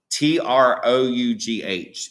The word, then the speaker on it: trough: same of a wave t-r-o-u-g-h it looks like the word tro or something but it's pronounced trough and when we look at our picture the trough is going to be